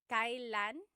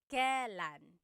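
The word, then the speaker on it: kailan: It's pronounced kylan. Kylan, but you will often hear it pronounced kalan kalanasal kalanasal.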